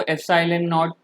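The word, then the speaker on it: epsilon naught: और ये जो ई नॉट ये लिखा हो ना इसको एप्सिलॉन नॉट प्रोनाउंस करते हैं और एप्सिलॉन नॉट है परमिटिविटी ऑफ फ्री स्पेस, ठीक है ना.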